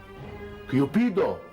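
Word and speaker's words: Cupido: وتتنطق بالإيطالي ازاي؟ لا انا ما اعرفش طبعا تتنطق بالايطالي ازاي، انما متهيألي يعني انها ممكن تكون كيوبيدو. بالظبط كده، كيوبيدو كارلوتشي.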